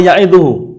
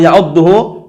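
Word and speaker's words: ya'uduhu: Nah, ketika Luqman al-Hakim berkata kepada anaknya dalam keadaan wa huwa ya'iduhu. Jangan keliru bacanya ya. Kalau wa huwa ya'udduhu itu nanti artinya apa? Keliru. Wa huwa ya'udduhu itu artinya keliru kalau dengan tasdid.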